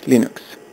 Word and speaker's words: Linux: hello this is lenux thals and I pronounce Linux as Linux the history of Linux September 1983 Richard M